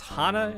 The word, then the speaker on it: Hana: anime which was Hannah or isn't pronounce Hana in Japanese it would be Hana in Japanese I always